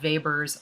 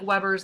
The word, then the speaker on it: Weber: And the size of the just noticeable difference we can measure through something called Weber's law. It looks like Weber's law, but it's pronounced Weber's law.